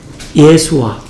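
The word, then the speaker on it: ישוע: 예수아. 그래서 예수님이라고 보고 똑같습니다. 이 여호수아가. 그래서 예수아인데 그 이름의 뜻이 뭐죠?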